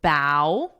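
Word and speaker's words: bough: The pronunciation is bow. Let me write that. Bow, which is the same as this motion, what I'm doing.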